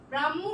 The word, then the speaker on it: ব্রাহ্মণ: ওকে তাহলে আমরা নেক্সটে চলে যাই ব্রাহ্মণ ওকে ব্রাহ্মণ উচ্চারণটা ব্রাহ্মণের মত হচ্ছে কিন্তু আমাদের উচ্চারণে কিন্তু লিখতে